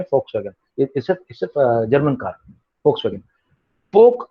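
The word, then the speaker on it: Volkswagen: दास actually German language में वी को एफ बोला जाता है, एफ। यहाँ पे इंडिया में भी एक कार चलती है कंपनी, हम लोग उसको वोक्सवैगन बोलते हैं, एक्चुअली इसको प्रोनाउंसिएशन जर्मनी में फोक्सवैगन, इससे जर्मन कार फोक्सवैगन।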